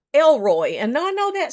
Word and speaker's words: El Roi: you know, it's a Hebrew word and it's spelled like this, E L R O I, El Roi.